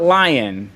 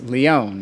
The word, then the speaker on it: Lyon: licks before we died lyon has been a tough tough ship it's not lion i know that yeah boy it's leon right the french pronunciation i only took spanish